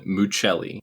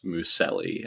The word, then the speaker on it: Mucelli: It's Muchelli, not Mouselli, as many people in my entire life have been saying it.